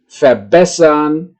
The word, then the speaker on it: verbessern: Di sini adalah penekanan pengucapannya itu berada di bagian yang saya cetak tebal di tengah, ya. Beginnen, erklären, verbessern, verlassen, verstehen, wiederholen, ya. Itulah, ya.